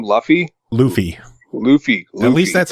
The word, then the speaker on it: Luffy: Luffy. At least that's how they say it in the game. Luffy.